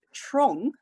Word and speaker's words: Trång: The same factory is there in the Swedish village of Trång. And I've just had my Swedish friend confirm the pronunciation, but that's spelled T-R-A with a little dot over it, N-G.